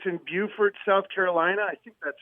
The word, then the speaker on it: Beaufort: It's in Beaufort, South Carolina. I think that's how they pronounce it.